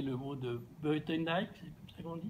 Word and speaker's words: Buitendijk: Pour le dire avec les mots, alors, excusez, bon, je vais certainement mal prononcer le mot de Buitendijk, c'est comme ça qu'on dit? Buitendijk, ja.